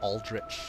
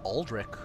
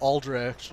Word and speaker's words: Aldrich: the the music of Aldrich although it's funny though if I were to read that as I pronounced it I would have pronounced it as alderic cuz the CH makes a kook noise this is so fun